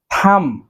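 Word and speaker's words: thumb: দেন রয়েছে থাম, থাম, থাম অর্থ এই যে আমাদের হাতের যে বৃদ্ধাঙ্গুলি রয়েছে এটি, থাম। শেষে যে বিটি রয়েছে, বিটি সাইলেন্ট বি, আমরা বি এর উচ্চারণ করব না, উচ্চারণ হবে থাম, থাম অর্থ হাতের বৃদ্ধাঙ্গুলি।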